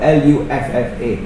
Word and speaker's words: luffa: its work okay so remember the word loofah l-u-f-f-a all right or sometimes pronounced or spelled as l-o-o-m-e-a-h luffa all